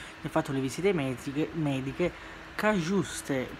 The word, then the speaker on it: Cajuste: fatto le visite mediche, Cagiuste, perché si pronuncia, credo, perché c'è la J, quindi giuste, quindi sarebbe il nome Cagiuste, quindi, ma un nome particolare.